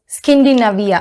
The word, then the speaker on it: Skindinavia: So I'm going to use my Skindinavia, I guess that's the way it's to be pronounced. It is Skindinavia, I'm sorry, it's the Skindinavia, the makeup finishing spray.